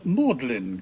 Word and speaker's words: Magdalene: happysburg bedworth becomes bedith Magdalene colleges call themselves modeling colleges car cut bright in